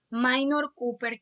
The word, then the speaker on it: Minor Cooper: es un nombre en inglés entonces en la pronunciación correcta minor cooper kit era la persona que estaba dirigiendo las